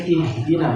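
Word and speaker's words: اهدنا: Demikian ihdina menggunakan huruf ha tebal.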